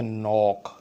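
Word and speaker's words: knock: For example एक लफ्ज़ है नॉक, एक लफ्ज़ है नी, इसमें के की आवाज़ नहीं आई, के साइलेंट है।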